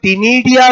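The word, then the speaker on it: ctenidia: भी होता है, बोलो टिनिडिया भी होता है। क्लियर, बोलो सी साइलेंट है, क्या लिख रहा हूं मैं, बोलो इसको टिनिडिया।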